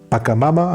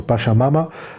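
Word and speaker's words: Pachamama: Um pakamama I think that's it is pronounced or pashamama.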